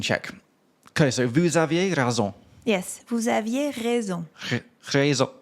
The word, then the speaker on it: raison: Okay, so vous aviez raison. Yes. Vous aviez raison. Raison. Raison. Raison. Okay, and that's spelled R-A-I-S-O-N. Yes. A bit like raisin.